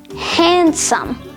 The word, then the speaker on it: handsome: Handkerchief, handsome, sandwich, and Wednesday. In all four of these words, the D sound is completely absent because the D is silent.